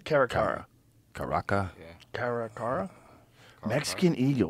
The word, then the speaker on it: caracara: Caracara? Caracara.